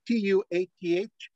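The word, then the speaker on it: Tuath: the mug by the way it's built a t-u-a-t-h I listen to lots of Celtics the recordings the pH is silent yeah so it's Tua and you stop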